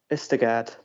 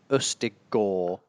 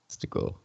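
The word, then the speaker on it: Østigård: Ust apparently like rust, and the A sound is like lawn apparently, and the D isn't pronounced at the end, which I think makes it Ustigor. Ustigor.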